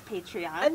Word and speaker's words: Patreon: might be mispronouncing that i think that's patreon yes because it's paint patron patron yeah we'll eat in there